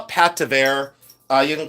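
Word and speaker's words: pâte: You can call it Pat. Uh you can call it Pat, but whatever you want to call it, it's fabulous, you know. And people say, "What is Pat?"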